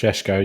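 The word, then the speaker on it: Šeško: Currently going to Liverpool, you got is it Sesko? Sesko, is that how pronounced? I'm sure it is. Sheshko, yeah.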